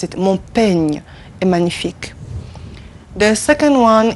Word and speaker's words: peigne: Mon peigne est magnifique. Mon peigne est magnifique. You see the way I pronounce it. Mon peigne est magnifique.